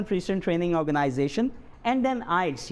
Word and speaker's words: IELTS: आप इसे IELTS भी पढ़ सकते हैं, लेकिन अगर हम इसे प्रोनाउंस करते हैं तो ये क्या बन जाता है, एक्रोनिम बन जाता है, and that's called आइल्स, international English language testing system.